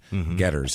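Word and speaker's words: Goedderz: o e d d e r r z Getters is how it's pronounced uh he's 19 years old Jeff and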